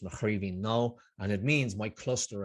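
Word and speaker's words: Mo Chraoibhín Cnó: the bottom of the previous page uh it's pronounced machine no and it means my cluster of nuts it's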